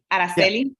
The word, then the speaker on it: Araceli: to say it right my name Araceli it's in Spanish okay okay all right